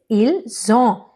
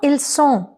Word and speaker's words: ils ont: Yes, it is ils ont, not ils sont, okay?